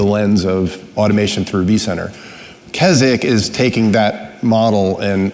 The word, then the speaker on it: Keswick: the the Keswick project k-e-s-w-i-c-k pronounced Keswick that's the code word